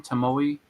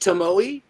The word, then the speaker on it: Tomoe: Is it pronounced Tomoe? I think so, yeah, Tomoe. I always say Tomo. Me too, but I think it's Tomoe.